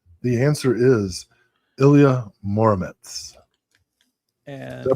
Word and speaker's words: Ilya Muromets: The answer is Ilya Muromets. And Did I pronounce that right?